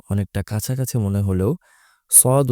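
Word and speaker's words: ص: অনেকটা কাছাকাছি মনে হলেও সদ উচ্চারণ করতে হয় একটু গলার গভীরে নিয়ে একটু মোটা করে আর সিন উচ্চারণ করতে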